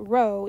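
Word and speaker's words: rho: rers we call it row even though it's a literal P we pronounce it as row and then the rules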